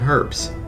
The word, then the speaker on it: herbs: Well, how about a wreath made from herbs? Herbs. H is silent.